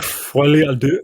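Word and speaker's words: folie à deux: What's the proper pronunciation? Folie A Deux.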